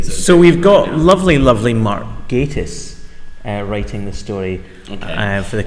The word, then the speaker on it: Gatiss: Hey, love, it's Mark Gattis. It was. You've just proven Mark, that was me doing a comedy thing there. Gatiss.